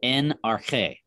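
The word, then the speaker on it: ἐν ἀρχῇ: read left to right this is n arche that's how you would pronounce that nrk now you might be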